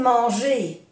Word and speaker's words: manger: También hay que acordarse que en francés, cuando la palabra termina por ER, porque son verbos de primer grupo, y terminan por ER, se pronuncia E. Esas dos letras E. Aimer. Manger. Aimer.